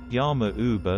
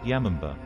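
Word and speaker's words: 山姥: Yama Uba literally means old woman in the mountains, and is often pronounced Yamamba.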